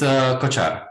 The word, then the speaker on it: Kocar: It's Kocar.